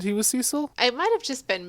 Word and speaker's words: Cecil: And we find out that Cecil is actually pronounced Cecil.